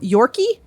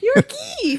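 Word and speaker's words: Yorke: y-o-r-k-e new york what why would they put the e there because it's english oh you know it's just his name they're playing a york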